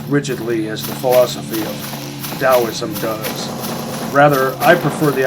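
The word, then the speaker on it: Taoism: In Dowoism, which is spelled with a T but pronounced with a D, I can't even imagine why that is.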